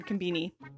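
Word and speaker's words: コンビニ: It's more of a B sound than B, but I think that's just because of how their accent is. But that's that's how you say it, even if you're English.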